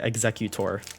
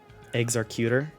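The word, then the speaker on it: Exeggutor: But I know a lot of people say executor. What do you say? It's like tomato, tomato. Okay. 1, 2, 3, 4. Eggs are cuter. Eggs are. There is no R.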